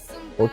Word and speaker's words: eau: On dit l'eau, ça s'écrit avec E-A-U, d'accord? On dit uno, O s'écrit avec E-A-U. O, c'est un nom féminin.